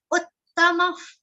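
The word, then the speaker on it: उत्तम: Uttama. Uttama. Very easy word, but double the sound. You should remember.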